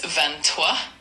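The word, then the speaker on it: vingt-trois: So, for number 23 in French, it's Vantoa, and it's spelled V I N G T R O I S.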